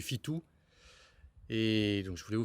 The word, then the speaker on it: Fitu: Donc, je suis là au Mirador du Fito, ou si on le prononce en asturien, du Fitou.